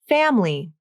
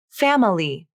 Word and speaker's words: family: Many native speakers pronounce this as family, but others pronounce it like family. Both pronunciations are correct. It just depends on the speaker and the context.